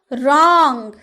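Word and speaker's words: wrong: रॉन्ग, डब्ल्यू का उच्चारण आया, वो रॉन्ग बोले नहीं ना, हम क्या बोले?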